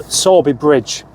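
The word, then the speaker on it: Sowerby Bridge: So, Sorby Bridge, that's how you pronounce it, isn't it?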